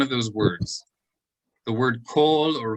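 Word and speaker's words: כל: The word kol or chol, even in modern Hebrew, they never pronounce kamatz like a patach, like chal or kal.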